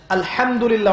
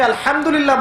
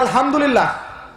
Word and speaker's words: আলহামদুলিল্লাহ: হায়ে Houthi, এটাকে বলে বড় হা। উচ্চারণ কোথা থেকে করতে হয়? মাঝখান থেকে। মাশাআল্লাহ। এখানে যদি আপনি আলহামদুলিল্লাহ বলেন, অর্থ হচ্ছে সমস্ত প্রশংসা কার জন্য?